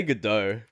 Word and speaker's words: Gadot: It's pronounced Godot, apparently. Really?